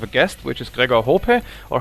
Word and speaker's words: Hohpe: This time we have a guest, which is Gregor Hohpe, or how do you pronounce this for the American audience?